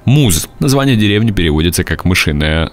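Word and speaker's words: Mousehole: заключенное в разных названиях название деревни маус холл произносится как муж название деревни переводится как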